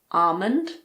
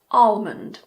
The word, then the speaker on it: almond: In the word almond, the L is optional. I personally say almond, so I don't pronounce the L, but you can also say almond.